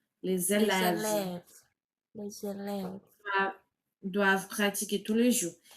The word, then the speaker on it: pratiquer: pratique alors que c'est pratiquer. Tu vois la différence la différence de la prononciation là c'est pratique. pratique mais j'ai besoin du verbe à l'infinitif. Donc il faut pratiquer pratiquer euh les les élevés doivent doit pratiquer tous les jours.